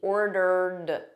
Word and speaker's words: ordered: I've I've I've ordered so notice this Ed here is just a soft D ordered ordered repeat after me